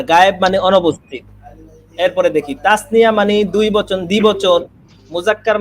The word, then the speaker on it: তাসনিয়া: তাসনিয়া তয় আকার, হ্যাঁ দন্ত স, তাস 9 রসিকার, দন্ত রসিকার 29 আকার, তাসনিয়া। ঠিক আছে?